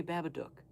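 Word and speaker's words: Babadook: Because it's supposed to rhyme with the word look. Do you say Luke? Oh, Luke over there. Absolutely not. You say look. So, say Babaduk.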